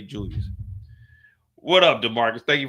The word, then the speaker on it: Julius: That's how my nephew say my name, Uncle Jewis. Juis. Like nigga, Uncle Jewis. Like you like 5 years old now. You need to learn how to say Julius, man.